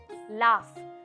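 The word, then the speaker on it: laugh: काय जरा सांगा मला एल ए यु जी एच असतो ते लाऊफ लाफ टफ कसं आहे तसंच लाफ लाफ म्हणजे हसणं हसणं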